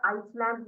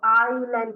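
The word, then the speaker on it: island: पहुचा तो हम बे इसको हम लैंड या आइसलैंड नहीं बोलेंगे हम इसको क्या कहेंगे हम इसको हम इसको आइलैंड कहेंगे ठीक है इसको कैसे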